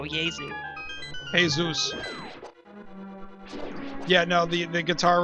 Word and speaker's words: Jesu: Oh, he said, I didn't even know what, J-E-S-U means, and he said the J is silent, and I said, oh, Yezu.